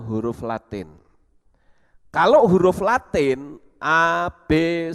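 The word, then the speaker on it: אב: Nah, Bapa itu di dalam bahasa Ibrani itu Ab. Dari huruf Alef Bet itu membacanya Ab, ya, Ab atau Bapa.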